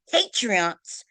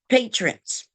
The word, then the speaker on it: patrons: While in the store, the male pointed the firearm at Patreons. Is that how you pronounce it? Patreons. Patreons. Patrons.